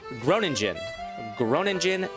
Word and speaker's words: Groningen: So I'm hoping that Utrecht, I think that's how that is pronounced, and over here is Groningen.